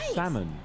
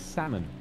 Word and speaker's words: salmon: I'm just gonna catch salmon salmon it is salmon salmon salmon salmon and salad salmon and salads the L in Salmon is silent you